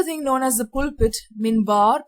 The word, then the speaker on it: minbar: there was another thing known as the pulpit minbar pronounced as minbar okay pulpit is also seen in churches from